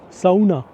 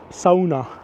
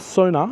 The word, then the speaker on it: sauna: by the way talking about Sona it's called Sona that's how you pronounce it that's it Sona so it's not Sona it's Sona and Sona is so important to the Finnish